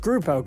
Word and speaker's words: Grupo: He is best known for being the CEO of Telmex, America Movil (pronounced Mobil), and Grupo Carso (Pronounced Groupo).